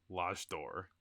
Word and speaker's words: L'Âge d'Or: Let's talk about why don't you pronounce this actually, Mr. L'Âge d'Or? L'Âge d'Or.